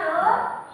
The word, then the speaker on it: rho: Gaya tekan ke atas ya kemudian rho ini bacanya rho atau V massa jenis satuan kogr/liter ini rho